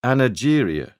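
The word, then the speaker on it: anageria: back in the 1890s called it a Nigerian with a soft G but for reasons that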